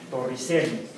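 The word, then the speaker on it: Torricelli: señor toreli Torri ci con doble l torrielli pronunciado en italiano como tor tor no escuch tor Aunque el español estaría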